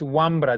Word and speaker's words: guambra: soltero también eso pero la pronunciación es guambra de ahí viene guambras